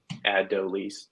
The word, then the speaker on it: Adolis: It does appear to be pronunciated Adolis.